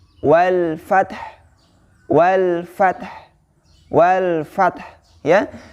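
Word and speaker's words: والفتح: Maka di situ diwaqafkan atau disukunkan huruf ha-nya. Namun tidak dihilangkan tapi tetap dibaca, ya. Bagaimana cara membacanya? Wal fath, wal fath, wal fath, ya.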